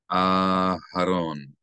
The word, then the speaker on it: Aharon: we elongate the first syllable of Aharon. Aharon.